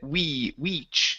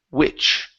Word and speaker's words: which: You had said weech. You don't want to say weech. Lower your tongue in your mouth. So instead of saying e, it's which. Which.